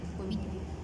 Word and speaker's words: Bovidae: Una cosa que tiene la familia es que la familia termina en dae, se pronuncia D. Aquí sería la familia Bovite. Bovide.